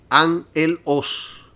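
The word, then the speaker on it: ἄγγελος: Y esta palabra es agelos y se pronuncia angelos, que quiere decir ángel de Satanás.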